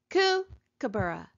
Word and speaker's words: kookaburra: another one fireplace fireplace where do we hear the accent fireplace fireplace we hear it in the first syllable here's another long one